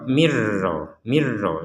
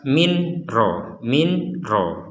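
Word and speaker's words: مِن رَّبِّهِۦ: Jadi jangan dibaca jelas. Kalau dibaca jelas min ro. Nah, sekarang yang jelas ini kita masukkan ke ro sehingga sudah tidak dibaca jelas lagi. Dan yang kedua yang perlu diperhatikan tanpa dengung. Kalau ini dimasukkan pakai dengung, di sini nggak ada dengung, langsung mirro. Nah, jangan sampai ada dengung, mirro, nggak boleh.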